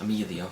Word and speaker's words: Amyleigh: Well, it's pronounced Amelia, but everyone calls her Amy.